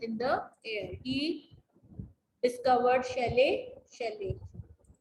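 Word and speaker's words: Scheele: Next is Shelley. How do we pronounce it?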